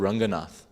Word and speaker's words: Ranganath: in South India called Ranganath rhymes with Jaganat Ranganat and Jaganath Jaganath actually means lord of the universe.